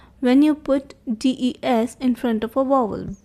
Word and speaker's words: des: And of course, the S is silent. So DES is for the plural, like in the to be used in a plural sense.